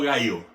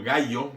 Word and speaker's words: Gayo: era un hombre llamado Gayo. Realmente lo escriben como Gallo, así en esta pronunciación, pero el nombre originalmente es Gayo y se escribe se podría transliterar con I latina y no con Y.